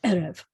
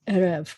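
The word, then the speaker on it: עֶרֶב: is that if you see 2 es together, then the first one is going to be accented. So it's erev, not erev. Most of the time, a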